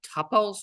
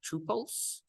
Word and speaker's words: tuple: today is uh called tles or tuples uh so some people say tles some people say tuples uh those are both valid pronunciations so the way you